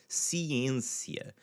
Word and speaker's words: ciência: So the first one is the word for science, ciência. A ciência, ciência. Again, with an N in front of it and after it, you're largely going to get this nasally sound with it.